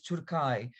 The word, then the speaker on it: Türkei: Is it important for it to be in German it's Türkei?